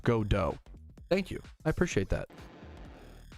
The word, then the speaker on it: Godot: Hey Patrouski, it's actually pronounced Godot.